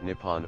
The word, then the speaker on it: Nippon: The name for Japan in Japanese is written using the kanji and is pronounced Nippon or Nihon.